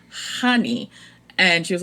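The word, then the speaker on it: Chani: the audio book and they made a point of the book like to say that she pronounces her name honey and she was like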